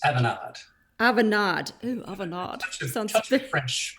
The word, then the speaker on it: Avanade: avanade is did I pronounce that correctly it's aanad aanad aanad French pronounciation Avan very perfect very good and in